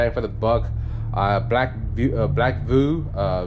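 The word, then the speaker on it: BlackVue: best bang for the buck uh black view black voo uh v e v u e black Vue that's how you pronounce it black blue that's another one another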